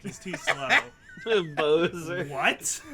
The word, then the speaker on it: Bowser: too slow Bozer what my logic if I may defend myself here is that b w is bow yeah so I was like okay so his name is Bozer but I guess it's also like take a bow yeah yeah it's kind